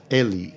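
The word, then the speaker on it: Egly: mean you could it with how did you pronounce his name um Francis Ellie e g l y y and this second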